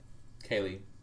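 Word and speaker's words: Kaley: Kelly Quaker. Yeah. Is it Kelly or Kelsey? Kaylee. Kaylee. Kelly Quaker? I think. Yeah, Kaylee Cuoco from, like, the Harley Quinn TV show is doing it perfectly Kelly Quaker.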